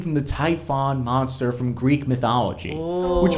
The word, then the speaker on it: Typhon: this same thing Cappy are you sure it's actually called the Typhon and not the typhoon launcher fair question I've been known to mispronounce a name or two in my day and admittedly I've gotten confused before in the past and called it typhoon launchers in previous episodes but this launcher isn't named after a strange word